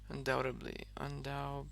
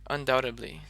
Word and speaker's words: undoubtedly: Undoubt, undoubtedly, undoubted. I don't really pronounce the T very much. So when I say, I'll be like undoubtedly, Okay, undoubtedly.